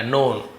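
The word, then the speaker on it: known: तो Akbar has been नोन, तो अकबर जाने जाते हैं, हैज बीन नोन जाने जाते हैं, के यहाँ पे साइलेंट रहेगा, नोन, फॉर यानी के लिए, हिज कीन इंटरेस्ट, कीन का मतलब क्या होता है?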